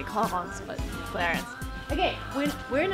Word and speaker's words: Clarins: because of the name, I think it's clarins. But French people always laugh at me when I pronounce their words. But again, let's go in and check and ask what's the right way. I don't see any salespeople there. Well, let's see. Excuse me, can I ask you something, Brian? What is the right way to pronounce the brand name? Clarins. Clarins? Clarins. Is it not French? It's French, but it's still Clarins. Okay, thank you so much.